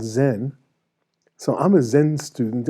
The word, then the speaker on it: Zen: Chan is the Chinese pronunciation of sudden awakening, which the Japanese pronounce Zen.